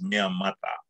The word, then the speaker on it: mea mata: In Tongan, it's mea mata. There's a kind of a D pronunciation of the T.